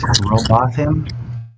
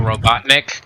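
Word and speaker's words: Rowbotham: How do you pronounce it? Robotham. That's it. Robotham. Daniel Robotnik. Got it. No. Robotham. Samuel Robotham. Yeah, that's it.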